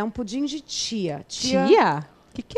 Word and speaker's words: chia: é um pudim de tia tia tia que que é tia Cia não é tia de tiazinha Não não é titia não é c e a Só que os em espanhol se pronuncia Tia vem muito dos